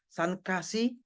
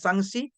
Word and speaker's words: sanksi: baru k pakai k sanksi juga pakai k bukan bukan sankka sankasi Iya kan Tapi bacanya sanksi ditilang itu cara baca begitu penting loh kalau kalau